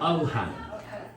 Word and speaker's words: Ohan: And this is the story of Ohan. You wouldn't have heard of him. O-H-A-N. His name is spelled.